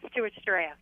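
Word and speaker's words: Stuarts Draft: talk to Rhonda from Stewarts Draft Virginia how do how do you say that that's right it's steart draft okay well hey thanks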